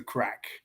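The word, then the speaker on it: craic: Which crack is spelled CRAC, which is the Gaelic word for fun or enjoyment.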